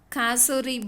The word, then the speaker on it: cassowary: This bird is called as Kasori bird. Okay, I'll spell it Cassowary.